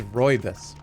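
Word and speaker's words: rooibos: cannabis not Roy this no it is roybus it's like Roy yes roybus constipated no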